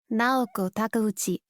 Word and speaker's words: Naoko Takeuchi: Shout out to the creator of Sailor Moon, Naoko Takeuchi. Sure, I butchered that name. Sarah, can I get a pronunciation on that, Sarah? Naoko Takeuchi.